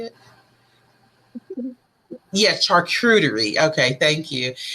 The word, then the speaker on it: charcuterie: Yes, charcuterie.